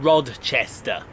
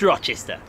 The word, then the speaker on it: Rochester: so he's here and he's pronouncing Rod Chester it's not it's Rochester there's no D in it Rochester is he still